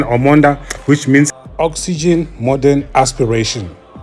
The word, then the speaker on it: Omoda: the name orod it's it's not an easy name for us to pronounce because I've heard people calling it so many things but it's actually an omond which means oxygen modern